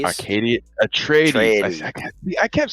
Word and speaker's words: Atreides: Atreides. Atreides. Atreides. I kept saying Acadius, and I knew that was wrong.